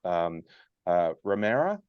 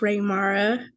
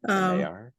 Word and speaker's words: Raymara: Romera, would you like to go first? And everybody needs to take themselves off mute and then just go through name, role, etc. So it's pronounced Raymara. Raymara. Raymara.